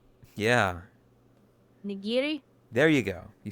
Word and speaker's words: nigiri: I think it was a nijiri. There said it. Well, you didn't say it correctly. Um, it's a different kind of G. With a with a G. No. No. Say it's a hard G.